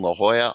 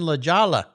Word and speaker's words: La Jolla: I would always say how things in La Jala I don't Grandpa that's not how you say it he was of course